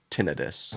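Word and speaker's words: tinnitus: I call it tenitis, but I guess UK pronunciation is tinidis.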